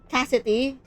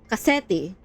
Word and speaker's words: Cassetti: Prince Cassetti. Cassidy. Cassetti. Cassidy. Stress on the second. Cassetti Cassetti.